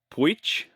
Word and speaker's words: Pujic: I want to see if I can get your last name pronunciation right from what you told me when we were in Alberta together. Puich, you got her.